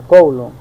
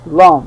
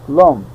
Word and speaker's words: Coulomb: Cuál es es el colum yo yo le digo col verdad Pero según pues corectamente la fora formaa correcta de pronunciar es coulom verdad coulom Ah pero yo le